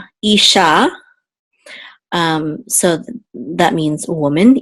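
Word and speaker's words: אִשָּׁה: it says e and then we have a shin with a kamats which is ah and the hey together Isha um so that means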